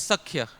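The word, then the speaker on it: sakhya: It is not sakya. It is sakya dear devotey. So pronunciation should be sakya.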